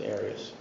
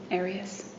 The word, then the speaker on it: Arias: Um, your name has been pronounced in most of this trial. Aras. Is there another way of pronouncing it? Have you always pronounced it Arias? I've heard it pronounced about seven different ways. Um, I say Aras as does the rest of my family.